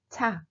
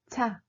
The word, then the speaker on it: 차: On l'appelle 차. 차. C'est la même prononciation que véhicule ou voiture.